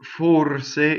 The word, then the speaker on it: forse: or say right so the O is stressed in the word for or say and it's closed the our roles the